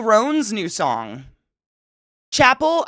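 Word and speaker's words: Chappell Roan: Chappelle Ron's new song Chapel I said it wrong again Chapel rone it's Chapel not Chappelle I literally for years I called her Chappelle and then she got popular and I realized it was Chapel I'm still stuck yeah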